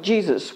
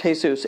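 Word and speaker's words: Jesús: It looks like Jesus. We have a lot of Mexican people who are named Jesus, but it's pronounced Jesus.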